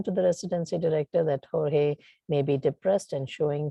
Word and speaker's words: Jorge: I don't know how to pronounce that name. Is it Jorge? Jorge.